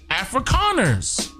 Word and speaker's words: Afrikaners: africans right now but it's pronounced afrikaners with decay and their native language